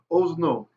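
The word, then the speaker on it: אָזְנוֹ: A comment in a closed, unaccented syllable is an O sound. Or if you're Ashkenazi, it's always O, but a little bit easier. Ho Elohim, right? But anyway, Ozno, his ear.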